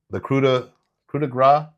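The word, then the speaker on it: coup de grâce: I love his finishing move, the coup de grace. Is that how you say it? Yep. Thank you. My pronunciation of words is...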